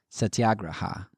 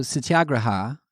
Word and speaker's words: satyagraha: computer voice on my computer say it but satyagraha um so this this concept of satyagraha or